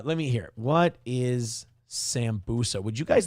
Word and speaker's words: sambusa: Hobo Chili says it's pronounced sambuka. No, you're thinking of the booze. You're thinking of alcohol. No, it's sambusa is um it's some kind of uh snack.